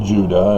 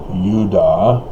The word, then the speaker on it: Judah: day five of judah which was not pronounced judah it was pronounced yuda but technically it's not